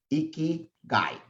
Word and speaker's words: Ikigai: So Ikigai is actually a Japanese word, and there's a really easy way to pronounce it, right? Ikigai. Think of a guy who's really messy, Ikigai, right? That's what it is. That's how easy it is.